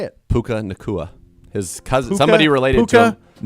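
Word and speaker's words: Puka Nacua: Puka Nakua.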